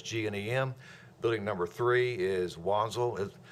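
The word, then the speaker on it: Wanzl: Building number three is Wanzel is pronounced Vanzel actually German company.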